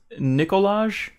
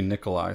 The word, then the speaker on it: Nikolaj: Is the director's name pronounced Nicolaj Arcel? Nicolaj. N-I-K-O-L-A-J. Nicolaj. That might just be Nikolai. Sometimes the J is silent.